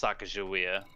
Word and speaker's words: Sacagawea: It is pronounced Sacagawea, but it's just spelled different.